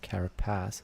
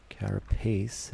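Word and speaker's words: carapace: Not carropass as I keep saying. Carropase is how you pronounce it, I suppose.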